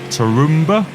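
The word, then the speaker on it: Tarumã: Like I said, this car did race beginning in 2017, around the 3 hours of Tarumba.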